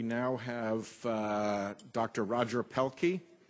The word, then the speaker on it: Pielke: have uh Dr Roger pelky I've pronounced it correctly I see by your name not by your head nodding yeah you got it that's and uh then